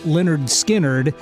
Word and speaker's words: Lynyrd Skynyrd: so the debut album pronounced Leonard skinnard What's the title of